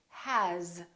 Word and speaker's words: has: For example, the word has. It's spelled with an S, but the sound is actually Z, has.